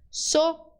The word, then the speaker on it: zorro: Aí você separa. So, ro. Chegou numa palavra muito difícil, você vai parar, reduzir a velocidade e vai separar em sílabas. Sorro, sorro, sorro.